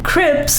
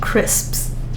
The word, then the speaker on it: crisps: Crips, which is the wrong pronunciation. I don't know. So in the UK, they say that crisps.